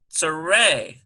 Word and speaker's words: tsere: Here's a tsere, T-S-E-R-E, and there it is.